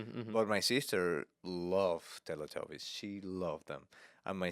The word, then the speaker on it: Teletubbies: Actually, I have something like like I hated the Teletubis, how do you pronounce Teletubbies? Teletubbies.